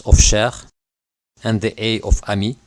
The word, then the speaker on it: cher: consonant is always pronounced a word such as share which means dear when the word share is followed by a